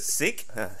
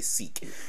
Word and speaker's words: Sikh: just like they're like ah right sick i can't i can't say that word i'm gonna say seek because they do that all the time like africa wasn't called